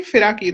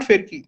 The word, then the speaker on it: Firaki: Correct me if I'm wrong, but am I pronouncing it correctly? Firaki, right? It's not Firki. Yeah. Firaki, No, right? Piraki. Yeah. Yes. It's an old-fashioned Bengali woman's name.